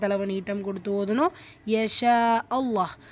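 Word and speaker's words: الله: நீட்டம் கொடுத்து ஓதணும் யஷா அல்லாஹ் அல்லாஹ் என்கிற வார்த்தையில் இருக்கக்கூடிய லாம் ஷத்தாக்கு முன்னே இடம் பெற்றிருக்கக்கூடிய ஃபத்ஹா சோ இந்த அல்லாஹ் என்கிற வார்த்தையை நல்ல வல்லினமா உச்சரிக்கணும் யஷா அல்லாஹு ரப்புல் ஆலமீன்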